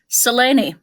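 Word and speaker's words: Selene: Yes, I pronounce it with three syllables. Come and fight me at the gallow. Seleni, that is her name.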